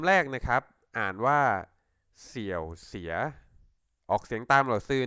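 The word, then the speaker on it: 小学: เลย ครับ คำ แรก เลย ครับ อ่าน ว่า เสี่ยว เสีย ออก เสียง ตาม หรือ ซื้อ นะ ครับ เสี่ยว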